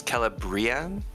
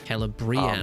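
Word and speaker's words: Celebrían: the D thongs so the I a together you pronounce each vowel separately oh I see interesting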